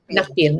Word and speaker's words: Nakpil: Nikpil? How do you say his Nakpil, name? Nakpil.